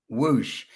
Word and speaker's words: WOOSH: And is is the pronunciation correct? It's like whoosh.